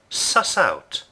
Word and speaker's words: suss out: object to make sense notice the pronunciation of the phrasal verb SS out there's no gap between the verb and the particle we say sus out sus out let's take a look